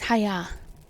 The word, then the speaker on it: Haigha: happy his name is haigha he pronounced it so that it rhymed with Mayor so I guess his